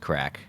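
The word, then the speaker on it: craic: american to know that that word is pronounced crack and uh anyway you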